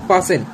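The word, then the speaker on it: fasten: For example फासन, T silent.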